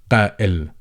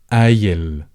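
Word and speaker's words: قائل: So they replaced the glottal stop with an E, as in the double E in deep. So they would say ayil, ayil.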